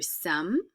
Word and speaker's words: sommes: Nous sommes, don't pronounce the S.